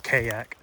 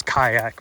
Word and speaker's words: kayak: why you say that nobody says that not a person on the planet pronounce this it's kayak it's kayak bro let's see here's a